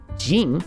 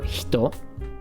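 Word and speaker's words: 人: Kata, Minna, Chan, Kun, Jin, which is another way to pronounce the same kanji for hito.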